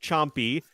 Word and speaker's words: Champi: And yes, chat, it is pronounced chompy.